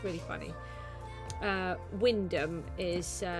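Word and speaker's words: Wymondham: Wyndham is spelt like Wymundham, and Acle is spelt like Ackley.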